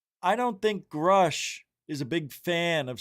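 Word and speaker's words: Grusch: and they were the ones who got David Grush to begin his investigation to begin with. Uh, but they had UAP hearings and one of the star witnesses was David and I can't say his name. Grush.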